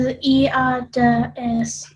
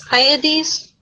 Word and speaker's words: Hyades: Says the pronunciation was Iades or something like that. It's weird. It's like got some sort of Euripides thing going on. Now it's Hyades, according to someone pronouncing it on YouTube.